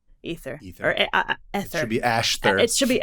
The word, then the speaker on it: aether: And so we still see it in words like ether, or people want to pronounce it into the aether, but it's actually just ether.